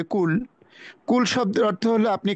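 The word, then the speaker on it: كُل: কুল শব্দটাকে একটু ভিতর থেকে উচ্চারণ করতে হবে, কফ কুল। আর কুল শব্দটা উচ্চারণ করতে হবে হালকা ভাবে, কুল।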